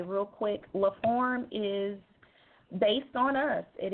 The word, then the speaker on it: LaForme: So it's pronounced form like F-O-R-M, but in French it's spelled F-O-R-M-E.